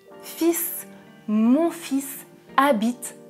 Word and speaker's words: fils: les fils fils fils dans le premier exemple attention je ne prononce pas le "l" oui c'est irrégulier mon